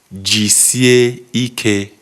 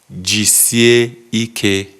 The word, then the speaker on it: Jisie ike: Jisie Ike. Jisie Ike. Yes. So Jisie Ike, which is how smoothly it's said, how to say it smoothly.